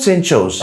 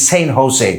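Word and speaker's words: San Jose: in uh it's not Saint Joe's here in America yeah when you pronounce the letter J it is pronounced as H it's not Saint Joe's it's Saint Jose right oh I'm so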